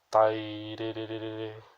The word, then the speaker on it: Tairerere: Nós deveríamos pronunciar ele dessa forma. Tairerere.